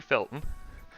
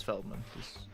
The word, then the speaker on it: Feldman: and my other associate mr gregory felton is it just feldman yeah it's feldman yeah and but uh